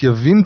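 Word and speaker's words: יָבִין: So Yehovah sold them into the hand of Yabin. Is it Yavin or Yabin? Well, it's spelt as Yavin. It's pronounced Yavin today.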